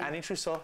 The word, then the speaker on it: Ana Trousseau: We're going to go to commercial and we'll be right back on the Zoo with Ana Trousseau. Yeah. Right? Did I pronounce it right? Absolutely. Ana Trousseau.